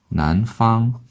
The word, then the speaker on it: 南方: 쓰고 발음 열렸을까요? 난팡이라고 얘기합니다. 난팡.